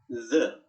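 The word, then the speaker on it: the: Inggris hanya satu yaitu zat atau whigna sahabatnya Gimana tulisannya th th nya dibacanya seperti yang ke aku jelasin kemarin lidahnya digigit bunyikan seperti suara sayap lebah zat atau by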